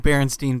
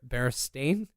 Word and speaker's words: Berenstain: In currently, and I guess for all time, it's been the Berenstain, I guess is how you pronounce that. Mm-hmm. It's AIN, which just had me kind of taken aback and started digging into it.